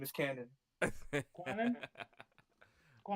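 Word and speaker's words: Kwannon: It's canon, not quadrilateral.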